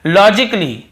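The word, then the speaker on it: logically: और देखिए लॉजिकली लॉजिकली यहां पर भी ए को हम नहीं पढ़ रहे हैं।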